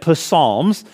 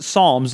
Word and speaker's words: Psalms: you should say it post Psalms but the P on the front there is silent so it's just Psalms and what are the